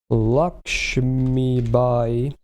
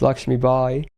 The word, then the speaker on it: Lakshmi Bai: At least based on the Japanese, that's what I always use because it's Lakshmi Bai. That's what I use because I'm like, look, I may not be saying it right, but I'm saying it right to the Japanese, and that's what I usually do as well. Because they try to at least, as well as they can, to their own phonetic system, they try to replicate the actual pronunciation.